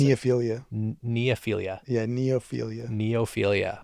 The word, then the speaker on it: neophilia: How do you pronounce Neophilia. it? Neophilia.